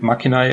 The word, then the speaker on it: macchina: Machine IO yep basically I pronounced it machina oh it's Italian kind of Italian Italian word for machine or device and basically